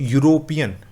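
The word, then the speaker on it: European: तो यूरोपियन, यूरोपियन, ई तो silent होता है, तो यूरोपियन में किसकी आवाज आ रही है, य की आ रही है, और य क्या है आपका एक कॉन्सोनेंट है।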